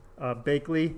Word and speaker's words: Bakley: So it's Bakley, the word bake and Lee.